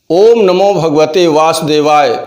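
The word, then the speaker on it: ॐ नमो भगवते वासुदेवाय: पहले आप उसे सन लीजिए लोग इसका गलत उच्चारण किया करते हैं ओम नमो भगवते वासुदेवाय ओम नमो भगवते वासुदेवाय ओम नमो भगवते वासुदेवाय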